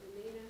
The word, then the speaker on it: Peninnah: That's how I pronounce it, Peninnah, so we'll go with it. Peninnah had children, but Hannah had no children.